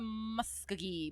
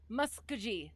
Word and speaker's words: Muskogee: Okay, soft G.